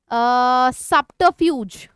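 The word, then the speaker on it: subterfuge: सारे वर्ड्स आते हैं सबट फ्यूज र साइलेंट होता है ठीक है सबट फ्यूज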